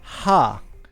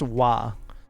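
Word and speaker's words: は: welcome here Athena s it is spelled with the letter ha but pronounced wa so I write it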